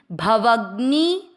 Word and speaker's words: भवाग्नि: भव के बाद में घ से घड़ी आधा है और न से नल पूरा है। ध्यान देना, घ से घड़ी आधा तो भव के साथ आधा घ, भवग, और न पूरा उस पे बड़ी की मात्रा नी, भवग्नि। भय, भय नहीं भय, दोनों